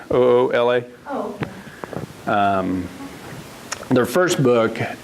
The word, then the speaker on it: Oola: Ula, like my hat, Oola.